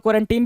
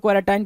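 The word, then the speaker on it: quarantine: कुछ लोग क्वारंटीन भी बोलते हैं, कुछ लोग क्वारंटाइन बोलते हैं। तो यहीं से आप समझ जाएंगे कि भाई प्रोनाउंसिएशन का बहुत ज्यादा दिक्कत नहीं है, दोनों सही है। क्वारंटाइन भी ठीक है, क्वारंटीन भी ठीक है।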